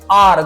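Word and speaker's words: hour: आर देखो आप वही बोलते हैं ना इसमें एच साइलेंट होता है। आर होता है ये।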